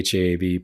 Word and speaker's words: HEAV: Association of Virginia which we don't use the acronym h-e-a-b which is the the first syllable of heaven but anyway Scott and the haab partners here in Virginia